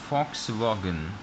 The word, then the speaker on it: Volkswagen: Like this V, you will give the sound F. Be careful. So this is F sound. Actually this is German word, or in German this V pronounced like F. So it is like that exactly. So the real sound is Volkswagen.